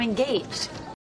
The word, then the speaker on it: engaged: Baby, I'm engaged. Con engaged, en cambio, queremos subir la entonación en la segunda sílaba.